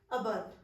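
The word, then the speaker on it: adverb: मैंने adjective एडवर्ब ये नहीं बोला। मैंने बोला है एडजेक्टिव अबब। यानी कि इसमें जो मैंने डी किया वो साइलेंट किया। यानी कि इसमें डी साइलेंट ही होता है।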